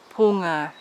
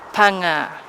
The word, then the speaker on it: ponga: Oh, I believe that the silver fern is given the name ponga, Ponga. But most people will not pronounce Maori correctly, and they'll just say punga.